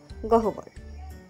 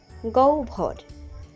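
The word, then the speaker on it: গহ্বর: অনেকেই উচ্চারণ করে থাকেন গহবর উচ্চারণ হবে গভর পাহাড়ের ভিতরে একটি গভীর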